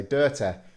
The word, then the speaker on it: dirty: my accent, I say dirty, because we pronounce the Y like an E in this particular region of Britain.